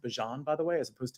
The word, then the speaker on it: Bijan: you and John Robinson did you know what's pronounced Bijan by the way as opposed to Bijan I